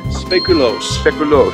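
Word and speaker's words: speculoos: sprinkles butter ice cream how do you say that again speculos that's how you pronounce them dutch i don't know how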